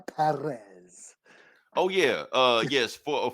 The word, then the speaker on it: Pérez: heard him say George Paris you know yeah uh We're not gonna do a long I think he supposed to roll the r Perez oh yeah uh yes